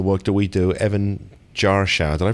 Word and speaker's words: Jarschauer: part of the work that we do, Evan Jarschauer. Did I pronounce that right? I always get your name wrong, Evan. Exactly, like a Jarschauer.